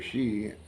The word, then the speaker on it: Xi: sudden uh the premier she uh that's XI she X is pronounced as an S for some reason uh passed a law